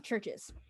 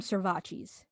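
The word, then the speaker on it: CHVRCHES: busted moving on churches churches spelled with a v instead of a u i think they're from glasgow so i think they're scottish i think that's scottish i might be completely wrong honestly hold up anyway they're foreigners and churches my brother used to call them servaces because of the way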